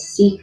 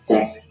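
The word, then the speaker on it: Sikh: being one of them some people pronounce it seek but it's sick um they are not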